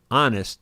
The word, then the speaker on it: honest: Honest. The H is silent.